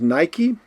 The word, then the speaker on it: Nike: We pronounce it as Nike, and that is the name of the sportswear manufacturer.